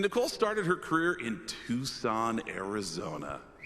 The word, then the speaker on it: Tucson: And Nicole started her career in Tucson, Arizona. Yes, some pronounce it tuxen, but now she's our main anchor in the big city of Phoenix, Arizona.